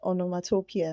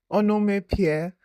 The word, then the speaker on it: onomatopoeia: Zara, Ada, and Toby walked out of their literature class, laughing about how the teacher mispronounced onomatopoeia. Did you hear the way she said it? Toby chuckled. Onome Pierre, like she was calling a place in Jers.